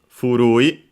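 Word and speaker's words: 古い: First and foremost, furui accented, which is the adjective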